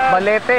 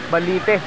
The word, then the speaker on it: Balite: Paano pag-pronounce ito? Balete o Balite? Balite. Balite Falls.